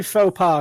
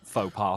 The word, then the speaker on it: faux pas: I think you mean faux pas, because au pair means something different. Yeah, faux pas.